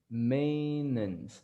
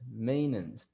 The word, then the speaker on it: maintenance: the the pronunciation again maintenance maintenance you don't pronounce the t you don't pronounce the e and you don't pronounce the end only the end but